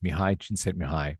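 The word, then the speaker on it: Csíkszentmihályi: Which is a really smart Hungarian psychologist, Mihi Chin Mihi. By the way, it's been me a long time to find out how to say that properly. That is how I pronounce his name.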